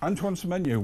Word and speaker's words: Antoine Semenyo: And finally, um Manchester City believe they'll get some character in a transfer called Antoine Semenyo. Antoine Semenyo, well done. Correct pronunciation that is.